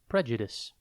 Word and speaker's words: prejudice: time today's word is Prejudice it is pronounced pre this and it is spelled p r e j u d i c e think pre then Jud and then ice Prejudice means having or